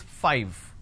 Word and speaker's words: five: a while ago is five all right now the pronunciation is five f i v e five so i need to i need to bite my lower lip to end the word it's five the second one is